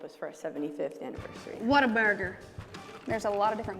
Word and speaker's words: Whataburger: It's what a burger. That's it. We have a People call us Waterburger. They don't know how to say it.